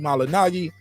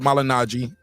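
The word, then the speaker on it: Malignaggi: situation seriously he fired Paulie malinagi and it is not malinaji yeah I I we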